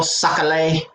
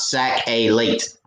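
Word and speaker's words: sac-au-lait: i say it right creole suckalay it's suckalay right it's not sac a late it's suckalay am i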